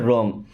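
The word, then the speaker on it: wrong: देखिए यहाँ पे डब्ल्यू साइलेंट है, क्या पढ़ते हैं? रॉन्ग।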